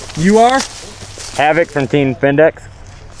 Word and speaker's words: Vindex: Havoc from Team Vindex. Havoc from Team Spendeck? Vindex. Vindec? V-I-N-D-E-X. So I said Vindec. Yeah. Just because you can't hear doesn't mean I'm not saying it right.